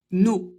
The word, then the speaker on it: nos: Pour le pluriel, on ne prononce pas le S, nos, sauf si on doit faire la liaison. Et alors, il faudra le prononcer comme un Z.